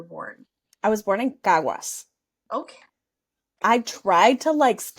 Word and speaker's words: Caguas: I was born in Caguas. Okay. I tried to spell that phonetically, but I don't know how to spell anything phonetically.